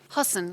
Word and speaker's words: Husson: alici Wilcox a PhD and how do you pronounce the university husten husten yeah h u SS o n in bang